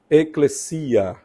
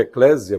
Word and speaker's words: eclésia: o termo específico é eclesia ou Eclésia geralmente a gente pronuncia Eclésia por causa do do S entre duas vogais em português que leva o som de z mas isso já transliterado